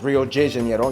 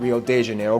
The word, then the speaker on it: Rio de Janeiro: That's right, it's pronounced Rio de Janeiro, not Rio de Janeiro. Get it right, we're not in Mexico. This is Portuguese, not Spanish.